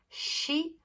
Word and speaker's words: shi: Brasil, aqui é sa, shi, su, se, su. Não se pronuncia si. Aqui não tem a pronúncia de si. É shi.